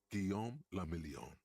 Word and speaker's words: Guillaume le Million: Guillaume le Million. If it doesn't rhyme, you're not pronouncing it right.